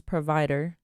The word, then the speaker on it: PRVDR: So the name PRVIDR, I took out the vowels out of it. So I called it PRVIDR.